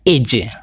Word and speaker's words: Edge: tahun 2013 Kawasaki AJ Hai bacanya Edge Edge kalau tadi ada